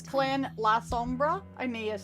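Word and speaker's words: Lasombra: YouTube says it's clan la Sombra.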